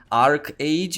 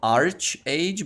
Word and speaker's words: ArcheAge: cage and not Australia notice how I'm pronouncing Ark age instead of arch age because some of you told me that Ark age is the pronunciation I'm gonna try through